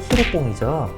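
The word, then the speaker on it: ヒロポン: 필로폰 은 일본어 로 ' 히로콩 ' 으로 발음 됩니다 .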